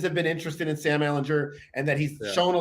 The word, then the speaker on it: Ehlinger: reports that teams have been interested in Sam Ehlinger and that he's shown a lot in camp and in practice.